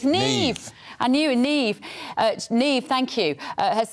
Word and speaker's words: Niamh: Niamh. That's Irish. That's Irish. That's Neve. Neve. It's Neve. I knew Neve.